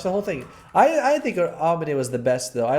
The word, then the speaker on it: Aomine: So, the name is pronounced Aomine.